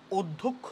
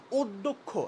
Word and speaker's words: অধ্যক্ষ: অ, অকে যখন আমরা উচ্চারণ করি তুমি দেখবা সিমিলারলি ওর সাথে ও আসে। অধ্যক্ষ, আমরা কিন্তু অধ্যক্ষ বলি না, অধ্যক্ষ, এই যে ও, আমরা ফার্স্টে ও উচ্চারণটা করতেছি, এই ও